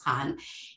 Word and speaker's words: Khan: is pronounce it properly that's how the author pronounced it i call it i used to say i said can but it's khan is our hijab wearing young muslim woman 24